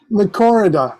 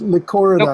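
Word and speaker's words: Lychorida: Lycorida. I think it's the emphasis on the first Lycorida. Lycorida, Dionysa.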